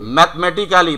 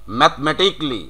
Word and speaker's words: mathematically: তারপরে আছে মেডিক্যালি, বাংলাদেশি উচ্চারণ মেডিক্যালি, ইয়েস ইট ইজ the exact pronunciation. Clinically, Clinically. Yes clinically. তারপরে রয়েছে Mathematically. ম্যাথমেটিক্যালি, প্রচুর বলে থাকি, কি হবে? Mathematically. ম্যাথমেটিকলি।